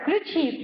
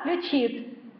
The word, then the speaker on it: включит: Включит, да, включит. То есть правильно ударение нормативное включит, хотя мы все часто в нем ошибаемся и говорим неверно.